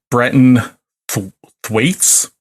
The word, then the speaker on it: Brenton Thwaites: It's also stars Brenton Thwaites, I believe is how you pronounce it.